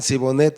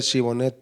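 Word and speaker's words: Shibolet: manera en que hablaban no no podían pronunciar la la H y decían sibonet en lugar de chibon y no podían entrar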